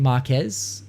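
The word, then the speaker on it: Marques: Like I have to we're talking about Marcus Brownlee. I think that's how you say his name, Marquez Brownlee.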